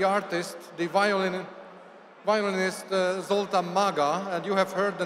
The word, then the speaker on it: Maga: my compatriot the artist the violin violinist ZTA Maga and you have heard the name rightly it's spelled m a ga a Maga I told